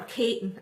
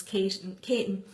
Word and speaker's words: Keating: And her name was Keating, if anybody's from Dundrum. And she, or Caton, as we pronounce it in Tipperary, it's spelled Keating, it's written down as Keating, but we pronounce it as Caton.